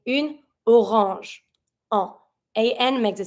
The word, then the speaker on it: orange: Une orange. So that when you're going to be pronouncing it, it's going to be smooth and easy to say. Une orange.